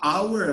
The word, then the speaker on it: hour: sound is terrible an hour ago i got a call what a hour hour oh you're muttering so that's why the age is not pronounced we say an hour ago now it's natural an